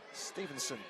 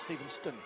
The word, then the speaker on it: Stevenston: Apparently the second T is silent. So, apparently. How would you say it then? Stevenson, not Stevenston.